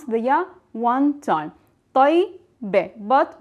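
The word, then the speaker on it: طيّبة: But in the feminine and the plural, we pronounce the ya one time, tayyibe. But we are pronouncing the ya with sukun. That means there's no vowel on the ya.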